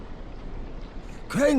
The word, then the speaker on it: Crane: name is crane okay crane rhymes with train and brain and say and gray and rain and plane and the other kind of plane and and what can